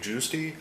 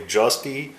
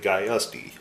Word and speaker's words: Giusti: you a bit about dave giusti or dave justy i've heard it pronounced both ways but i definitely have not heard it called dave geiste so hopefully i'm giving